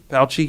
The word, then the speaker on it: Fauci: Fauci, okay.